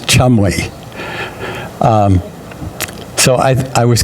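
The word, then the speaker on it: Cholmondeley: Um, and like trying to pronounce this this name Cho Moni ladies, but it said in Wikipedia that it's just pronounced Chumli.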